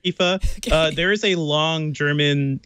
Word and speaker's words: IFA: what FA is and whether or not you should ever pronounce at IFA I don't know if you should pronounce it I say I've only heard Eva there is a long